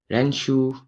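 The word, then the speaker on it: ろ: तो ये जो रो है इसको आपको कभी कभी जब प्रोनाउंस करोगे तो ऐसा प्रोनाउंस होगा लो, लो, ठीक है? क्योंकि एल और आर के बीच के साउंड होते हैं, तो लो प्रोनाउंस भी आ सकते हैं।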